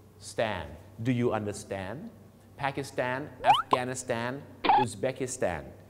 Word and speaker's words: Pakistan: ิ แล้ว ก็ แี Stand do you understand Pakistan afghanistan Uzbekistan นี่ ก็ คือ ออก เสียง สตน